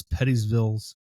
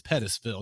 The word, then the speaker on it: Pettisville: the three yeah what's pettyville mask well first off it's Pettisville not pettyville it's pettyville it's Pettisville I went to school